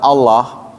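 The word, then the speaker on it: الله: Wah sudah jelas lam fatah lah jadi o. Ah anda belum belajar tajwid. Ya, benar. Enggak lam fatah kan la kan Allah itu la ee apa lam fatah itu. Kenapa jadi o itu namanya tafkhim?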